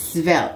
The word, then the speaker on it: svelte: I don't know if that's how you pronounce it, but the word is S-V-E-L-T. It's svelte.